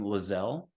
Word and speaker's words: Lieselle: below the video but just think gazelle for how you pronounce her name lizelle and that's l-i-e-s-e-l-l-e and Elliot would be like Elliot